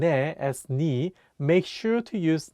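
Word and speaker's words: 네: meaning you sometimes pronounced n in Korean n is the shorten version of The Casual possessive noi meaning you it often gets pronounced as ni instead of NE in spoken Korean for example how do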